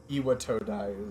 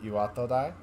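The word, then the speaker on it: 巌戸台: The actual pronunciation is probably something closer to Iwatodai. Which I know doesn't sound like a huge difference. But in general, Japanese is, it doesn't have syllable stress.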